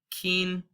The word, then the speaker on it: quince: So we have quince.